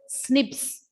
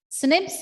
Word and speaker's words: SNP: or single nucleotide polymorphism it is pronounced as snips snips or single nucleotide polymorphism